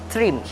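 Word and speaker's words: Thrym: We pronounce them T-H-R-I-M, Trim.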